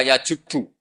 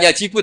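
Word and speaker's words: يَجُبُّ: ngenikan alislamu yajubbu maqoblah itu bacanya bukan yajibu tapi apa yajubbuq lah kalau pas ini kamu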